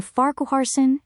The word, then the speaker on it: Farquharson: The name Farquharson is a Scottish surname that is generally pronounced Farquharson, with the stress on the first syllable. You can break it down as far, like the English word far, then k, a soft short a sound, and finally sun, like the word sun.